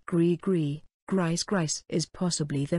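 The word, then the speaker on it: gris-gris: have already begun their work upon the world pronounced grigri griez grice is possibly the most recognizable physical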